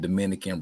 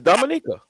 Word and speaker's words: Dominica: I'm from Dominica, not Dominican Republic, though. Indeed. He from Dominica. No, for real. It's Dominica.